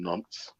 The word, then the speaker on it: Nantes: My brother-in-law's supposed to be getting married in August in France, in Nantes. Yeah, child. Not bro. That's how it's pronounced. Yeah, it's Nah, spelled you, Nantes.